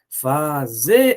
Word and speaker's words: fazer: E aí, qual é a sílaba tônica de fazer? Separa aí, fica fazer. Fazer. Opa, tá aqui, professor. É verdade. É a última sílaba, logo essa palavra é uma oxítona.